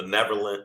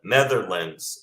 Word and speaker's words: Netherlands: white immigrants from Europe from Iceland from the neverland Netherlands am I saying it right I'm sorry I